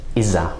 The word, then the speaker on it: إذا: or it's often pronounced إذا, right? Or that sort of elides into a Z sound.